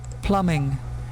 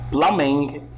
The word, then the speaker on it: plumbing: the meaning of numb B is silent in here plumbing listen to this one plumbing plumbing it means that the